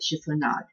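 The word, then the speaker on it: chiffonade: know how to pronounce a ship or name chief or not that's exactly how you pronounce it chief or not good you slice it fine and there was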